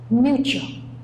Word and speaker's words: mutual: So we pronounce ch, ch, mutual, mutual.